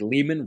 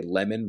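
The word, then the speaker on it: Leman: everyone's allowed one but you can only say lemon Russ once so you after that you have to say Lehman because that's how it's pronounced so I prefer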